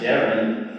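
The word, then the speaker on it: Deron: sping of my CU my name is deep r o n and pronounced Daren from birth although I became Dron in middle school age and both of my parents from middle school on changed over and he started calling me Dron as well just because he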